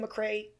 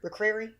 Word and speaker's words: McCrary: And Darius, I always say his last name wrong. Is it McCray? Darius Yeah, McQuarrie. McCrary?